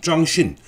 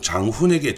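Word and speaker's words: 張勳: 그래서 당시 안희성의 기반을 두고 있던 또 다른 군벌인 짱신, 우리나라 발음으로는 장훈에게 정치적인 조정을 요청했는데, 이 짱신이 중재를 해주기는커녕 아예 자신이 쿠데타를 일으켜버렸습니다.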